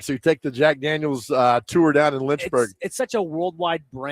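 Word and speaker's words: Jack Daniel's: But when you pronounce the company, it's Jack Daniels.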